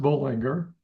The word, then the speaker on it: Bollinger: Uh okay let's start with my name is pronounced bullinger.